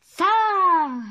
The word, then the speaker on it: лица: Лица. Лица, потому что во множественном лица. Числе. Ударение на и.